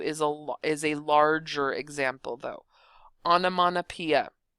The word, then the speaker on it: onomatopoeia: For pronunciation's sake or spelling sake, pronunciation's sake, it's onomatopoeia, but for spelling's sake, I like to pronounce it onomatopoeia, and that helps me to actually make sure that I get the ending spelling correct.